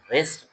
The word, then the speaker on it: wrist: In wrist, W is silent.